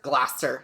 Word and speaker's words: Gloucester: And Gloucester, or is that Gloucester? Gloucester. See, I knew it! You don't pronounce half the letters.